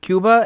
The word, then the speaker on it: Cuba: said it right like i should say kooba because that's how my family says it but like i'm a little too white looking so i kind of go with cuba and like i still